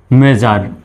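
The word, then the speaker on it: measure: সুতরাং এখানেও এসের উচ্চারণ জ্বর মতো, SURE জার উচ্চারণ হবে। মেজার, মেজার মানে বন্ধ বা অবসান, লেজার মানে অবসর, প্লেজার, প্লেজার মানে হচ্ছে আনন্দ, আর মেজার মানে পরিমাপ বা মাপ।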